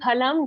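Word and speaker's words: फलम्: Okay, try to say phalam, join your lips and say pha.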